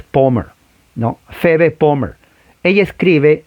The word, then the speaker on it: Palmer: Se pronuncia, en español es Palmer, P-A-L-M-E-R, Palmer. Pero en realidad la A es O, la L casi no se pronuncia y es Palmer, ¿no?